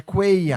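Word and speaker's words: Cuéllar: Ó, a pronúncia certa do coelha. É, coelha. Cuellar, me agradece depois, tá?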